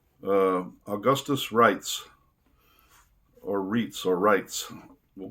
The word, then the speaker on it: Reitz: under the understanding that in german the e i is pronounced i if it was i